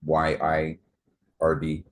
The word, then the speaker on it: yird: Known by various names as the yard dog or yird yird swine, yard swine, but it's y i r d yird swine.